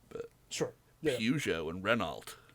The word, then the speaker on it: Renault: I don't know how to pronounce Well, it. it's French, so it's Peugeot. But okay. we don't say that. And Renault.